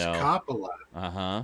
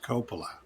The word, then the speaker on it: Coppola: google answer oh okay the american pronunciation is coppola the british pronunciation is coppola great but he's american